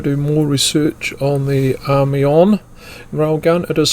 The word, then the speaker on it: Amiens: The German Army-on railgun. If you want to do more research on the Army-on railgun, it is spelled AMIENS.